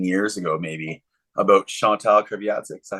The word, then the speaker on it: Kreviazuk: You told me the story probably 15 years ago, maybe, about Chantal Kreviazuk. Is that how you pronounce it?